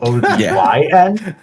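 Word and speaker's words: Odyn: One of them being named Odin, but spelt with a Y. So Odin.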